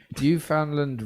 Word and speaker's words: Newfoundland: Newfoundland rhymes with understand.